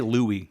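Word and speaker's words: Looi: four languages yeah no it's spelled l o o i so I'll just say Louie just to you know be easier or Lou Loui um so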